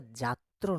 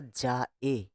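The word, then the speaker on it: যাএ: আর ওটা যাত্র নয়, ওটা যা এ।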